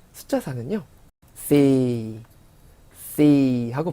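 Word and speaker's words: สี่: 4, 숫자 4는요 C 하고 발음했었죠.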